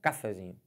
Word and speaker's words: cafezinho: você vai testando e você vai descobrir que a sílaba tônica da palavra cafezinho cafezinho pode forçar a vontade cafezinho cafezinho força